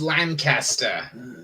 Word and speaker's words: Lancaster: Oh yeah, but yeah, her blood boils when you mispronounce Lancaster. I said it right. Nothing's being flown my way. Hello, Stark of. It's Lancaster.